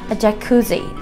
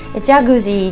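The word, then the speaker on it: Jacuzzi: ジャクジーというふうに、発音しますので、ジャグジーじゃなく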